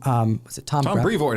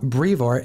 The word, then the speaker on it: Brevoort: Tom Brevoort is how Donny Cates pronounced it. Yeah, Tom Brevoort.